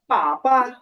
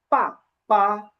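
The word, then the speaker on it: 爸爸: এখানে হচ্ছে falling tone আছে বা ফোর টোন। আর লাল যে সিলেবলটা, এখানে কোনো টোন নাই, কিন্তু দুইটার উচ্চারণ কিন্তু একই।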